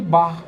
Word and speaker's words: Bach: Bar se pronuncia como se fosse um carioca dizendo a palavra bar.